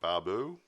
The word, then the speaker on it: Barbeau: Hal Holbrook and Fritz Weaver are in this one, and a lady by the name of Adrienne Barbeau. Barbeau is the right pronunciation, I think.